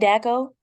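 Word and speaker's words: Dachau: I don't know how to pronounce the place. Oh, The Daco? is it Daco?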